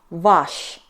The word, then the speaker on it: ваш: Masculine variant — ваш .